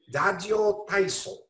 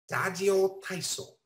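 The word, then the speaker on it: ラジオ体操: And I'm going to use the Japanese pronunciation here. Dajyo taiso. Dajyo taiso.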